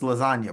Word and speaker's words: lasagna: It's lasagna, bro. The G is silent.